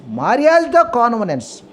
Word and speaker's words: mariage de convenance: But in French derived pronunciation is Mariage de convenance. Mariage de convenance.